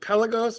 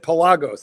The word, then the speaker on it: Pelagos: Is it Is it Pelos or is it Pelagos? Uh, I I I always pronounced it Pelos. Well, here's the funny thing. Me, too. Until I saw a tutor commercial for it in which they said Pelagos, and I I saw